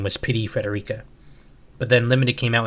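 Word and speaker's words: Pity Frederica: Apparently in Japanese it's pity Federica as if a pity me. I'm so sad.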